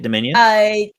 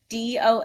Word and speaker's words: Domitian: Suck It Dominion? Yeah, Dominion. Mm-hmm. But there's a T in there. Domitian.